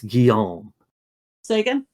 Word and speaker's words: Guillaume Sagan: game absolutely not well that pronunciation was whack it's guillaume sagan now you're just making